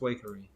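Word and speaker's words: Waikerie: discussion last night and it's definitely pronounced wakery oh yes one of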